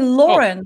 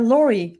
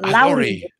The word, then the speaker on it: Lauri: says my name wrong they all say lauren right it's uh laurie or lowry yes sorry and uh